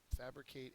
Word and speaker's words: fabricate: next word is fabricate fabricate is a verb first syllable is accented means to make manufacture